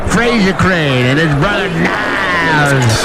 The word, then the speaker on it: Niles: Fraser Crane and his brother Niles Crane, which rhymes with Giles.